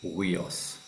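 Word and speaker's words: υἱός: You have the upsilon iota with the rough breather, uios.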